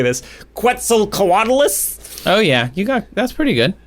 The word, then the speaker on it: Quetzalcoatlus: That's Quetzalcoatlus. I don't think it's a qua. I think it's just a k. Spanish style.